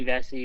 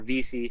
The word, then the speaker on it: Vesey: he was gonna jimmy vesey was on there but ended up getting picked up or vc sorry forgot he changed his name from college to [